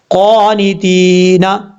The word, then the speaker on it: قانتین: اب اس لفظ میں بہت بڑی غلطی کیا کرتے ہیں لوگ، آپ کو بتاتا ہوں. دیکھیں ہجے کرتے ہوئے کیا کرتے ہیں، تا یاد تی، حالانکہ یہاں پر یا مدہ ہے، یا ساکن سے پہلے زیر ہے تو یا مدہ ہوتا ہے، یہ یا مدہ کی تعریف ہے.